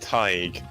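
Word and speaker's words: Tadhg: they are crazy Lenny this is an Irish name which is pronounced tied and it's it's belt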